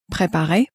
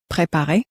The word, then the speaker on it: préparer: Préparer. And let's try now to prepare. Préparer.